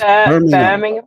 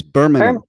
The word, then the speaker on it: Birmingham: No, you're saying it American again. It's Birmingham. It's Birmingham. Birmingham.